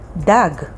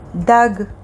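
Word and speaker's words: דג: for another word gag which means roof and spelled with two gimmies gag next word dag which means a fish and it's filled with dalit and gimel dag the next letter is hey hey sounds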